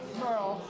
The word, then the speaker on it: Merle: Merle. Merle, I Yeah. chose a bad time to ask you, sorry. No, it's okay. I always tell people it rhymes with pearl.